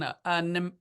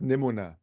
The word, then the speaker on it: Nimona: Heron Elemental I can't can't see that one neona neona I don't know my glasses are failing me neona okay robot dreams and Spider-Man across the spider it's pronounced nimona nimona okay N I don't know I'm just